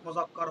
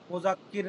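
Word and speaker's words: مذکر: ইসমে ইশারার ব্যাপারে বলতেছে, ওয়াহিদ হক, জামা হক, মুজাক্কার হক, মুজাক্কার, মুজাক্কার, মুয়ান্নাস, মুজাক্কার, মুজাক্কার, মনে রাখবেন মুজাক্কার মুয়ান্নাস, বুঝছেন? মুজাক্কির না, মুজাক্কার মুয়ান্নাস যদি হয় কি হবে?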